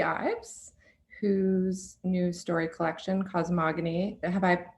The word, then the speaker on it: Cosmogony: have uh lucy ives whose new story collection cosmogony have i pronounced that correctly lucy i know there was